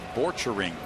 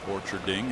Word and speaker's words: Borchering: Bobby Borchering. Not Bobby Borcherding as I was pronouncing it.